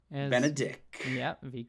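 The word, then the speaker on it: Benedick: Benedict. Yeah, make sure you say it right. Oh yeah, no T. Absolutely no T.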